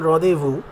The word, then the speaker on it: rendezvous: এই যে the festivity, the রদেভু, যেটার মানে উচ্চারণ রদেভু, তার স্পেলিং হচ্ছে RENDEZVOUS, RENDEZVOUS, রদেভু, which means celebration or festivity, reveling।